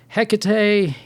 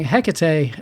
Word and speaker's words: Hecate: I know it's 3 syllables now, and I thought it was 2 this entire time.